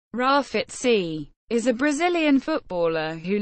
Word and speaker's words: Grafite: 1979 in John Dory commonly known as graphite pronounced Rafat sea is a Brazilian footballer who last played for